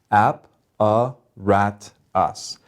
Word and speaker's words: apparatus: it into syllables so apparatus has four vowel sounds four syllables app a rat us so the third one gets the accent that means we say it louder than the others so how do we